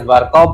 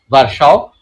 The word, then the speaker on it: Virchow: Many people pronounce it as Warkau, but I follow this pronunciation, Warsaw.